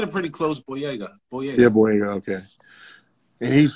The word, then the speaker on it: Boyega: I know I'm pronouncing his name fucked up. No, you said it pretty close, Boyega.